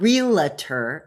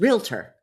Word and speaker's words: realtor: The first one is realer. It's not realer, it's realtor. Look at how it's spelled.